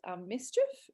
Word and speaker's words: MSCHF: There's one called Mischief. It's spelled MSCHF.